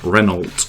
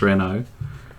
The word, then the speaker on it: Renault: when it was advertised it was advertised with the pronunciation of reynolds which i mean people do still pronounce it as reynolds here um but yeah we we tend to pronounce the the french way as renault but authorized service always